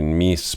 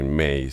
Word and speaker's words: Myss: escribe caroly m yss Yo la verdad que pensé durante mucho tiempo que se se escrib se pronunciaba Carl Miss Pero bueno buscando Aparentemente se pronuncia car May y en ella apareció en televisión muchas veces siempre la la nombran como carolyn May Eh bueno carolin May